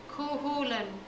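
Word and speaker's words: Chulainn: story about CU kulin say it after me kin I'll tell you the story when you say the name right kulan I say it right and he tells me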